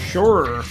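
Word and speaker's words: Suhr: It's spelled s u h r. Sure.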